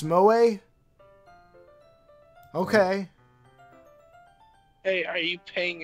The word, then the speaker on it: moe: Oh, Mo is pronounced Moe?